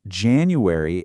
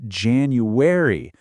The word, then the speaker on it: January: She jumps right in and points out that the key is to hit all three of those syllables. It's not January, it's January.